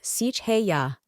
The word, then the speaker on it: Seheiah: Name: Seheiah, pronounced Seheiah.